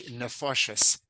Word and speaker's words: nefoshes: Yeah, it's clearly nefoshes. In the same form as chadorim, the second syllable that gets accented typically in the plural becomes a kometz aleph, nefoshes.